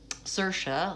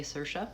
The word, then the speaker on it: Saoirse: And she says to him, Saoirse, like inertia. And so not only does that give some pronunciation clues, but you're more likely to be able to remember how to say it. In fact, just now when I was thinking about how to say her name, I had to use that memory cue myself. I thought, okay, wait, how do I say Saoirse? Yes, it sounds like inertia.